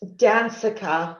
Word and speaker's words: D'Anzica: did i badger that name of yours it's dancica like dancica not bad i always i always